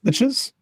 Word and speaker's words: lich: I have no idea if it's D. I don't actually know how it's pronounced. I'm not D and D enough for that. Liches and bows. Anyway, that's what you could say. Yeah, it's it is lich.